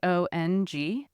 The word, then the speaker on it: Hongzhi: How would you spell it? Hangzhe, Hongzhi.